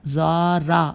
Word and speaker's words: زرارہ: مجھے زوا کہنا پڑا، زارا، رے اور ہے، زے پہ پیش الف رے اور ہے، زارا بن الف عین